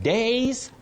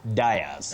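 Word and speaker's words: dais: Days, not dias. Okay.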